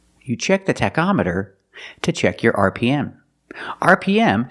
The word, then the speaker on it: tachometer: with the word tachometer the CH makes a k sound Tech tachometer you check the tachometer to check your RPM